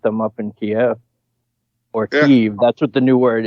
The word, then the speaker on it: Kyiv: up in Kiev or Kyiv. That's what the new word is. The new speak is Kyiv because Kiev is the Russian pronunciation, and we're supposed to hate them now.